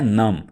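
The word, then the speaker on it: numb: यह वर्ड है नम। इसमें बी साइलेंट रखिएगा।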